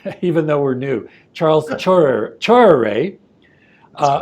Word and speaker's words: Tchoreret: Well, like you said, my name is Charles Tchoreret, right? Just to make sure that the name is pronounced properly.